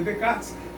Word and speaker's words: Descartes: Snell, pessoal, foi um astrônomo e matemático holandês que em 1621, junto com René Descartes, se escreve Descartes, mas se lê Descartes, um francês, um filósofo,